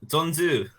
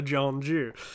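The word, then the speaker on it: 전주: In Donzu, in North Dollar. Thank you. Yeah. My pronunciation was so bad that I wasn't gonna murder Taeyong's. Janju and North Sure, Dollar. yeah, North Jeolla, Jeonju.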